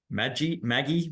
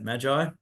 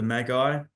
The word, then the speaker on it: Magi: Maggie, how do you say it? Magi?